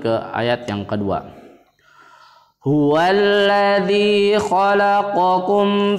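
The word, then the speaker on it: خلقكم: Jadi cara membacanya q di sini, kaf juga agak atas sedikit. Kalian bisa merasakannya sendiri perbedaan antara huruf qaf dan kaf. Khalaqakum.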